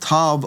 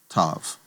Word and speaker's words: tav: And tav oftentimes will be seen with a doggish or without. but it's always going to get the T sound as in tom.